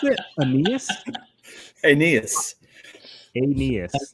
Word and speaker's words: Aeneas: Aeneas All right.